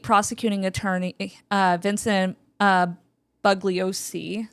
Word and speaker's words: Bugliosi: attorney uh Vincent uh bugliosi bugliosi or bugliosi bosi yeah yeah sorry that's Vince the bug well because it's spelled like bug but it's booly o bo um so Manson